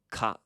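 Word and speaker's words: 蚊: It's ka. Ka. Good. Let's do that one more time. Ka. Ka. So here is a 4-syllable word that not only uses consonant vowel sequence, but it repeats too.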